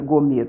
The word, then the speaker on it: gômer: um efa 37 litros porque se pronuncia gomer porque o acento circunflexo está no ou então não é gomer gomer então 1,5 e